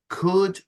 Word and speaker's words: could: I said could, would, should.